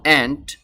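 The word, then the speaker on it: ant: বলি অ্যান্ট এটা হলো এন্ট এই অ্যান্ট কে বাংলা ভাষায় বলা হয় পিপিলিকা বা পিঁপড়া বলে তো এন্ট শব্দটির সঠিক উচ্চারণ হবে এন্ট এখন যদি আপনি ওই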